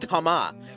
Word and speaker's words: Thomas: France, why why is Thomas pronounced Tama? You're not pronouncing the H and you're not pronouncing the S.